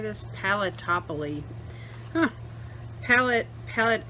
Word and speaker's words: Paletteopoly: there's the pellet how do you say this palatopoly huh palette palette palletopoly there you go anyway a whole Fistful of